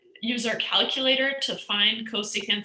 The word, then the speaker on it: cosecant: So CSC is cosecant, SEC is secant, and COT is cotangent.